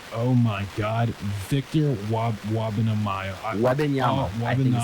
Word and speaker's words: Wembanyama: Wembanyama, I think is how you say it.